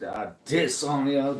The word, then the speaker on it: Adesanya: Israel Adesanya. I don't want to put a diss on ya. Gotta pronounce it. Adesanya. Don't want to put a diss on ya.